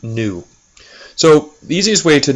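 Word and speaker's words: ν: call that frequency that's given the symbol new I know it looks like a V but that's actually a Greek letter pronounced new so the easiest way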